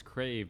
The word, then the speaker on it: Krav: when I know it's it's crave but you spell it like a crab wait what no like the word crave okay I'm so confused